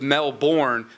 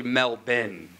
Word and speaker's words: Melbourne: there she told me that that's how they pronounce their city it's it often gets confused with Mel born but it's actually Mel Ben I got a family of the more you